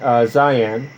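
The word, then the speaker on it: Dzyan: stanzas of this design zion and i'm probably pronouncing that wrong it's spelled d-z-y-a-n d-zion became our hats thus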